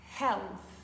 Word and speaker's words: health: un peu compliqué par bien faire attention à placer le H et surtout à prononcer le TH dur on dira health encore une fois Heth